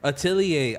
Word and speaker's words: Atelier: Atelier. I'm Artelier. tired of everybody on the show getting his name fucked up. Artelier? Bruh. It's Atelier. Just know, It's some Italian shit, bro.